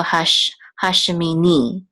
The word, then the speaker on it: hashemini: the accent mark here the cotton is on the last syllable so hashemini the accent is on